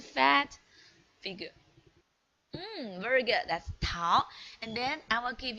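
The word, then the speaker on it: 桃: It's Tao.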